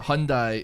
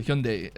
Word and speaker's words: Hyundai: It's not a Hyundai, it's a Hyundai.